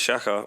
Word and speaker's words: Shakka: um my name is shaka my name is shakka with 2ks it's spelt s-h-a-k-k-a i am a bad